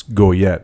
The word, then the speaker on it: Goyette: said your last name out loud it's it's go yet right is that very good very good usually people do not pronounce French names first is that correctly the